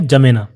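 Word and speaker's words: N'Djamena: देश जिसकी राजधानी है जमेना इसको हम कैसे प्रोनाउंस करेंगे जमेना और यहां पर इजिप्ट देश के नीचे यहां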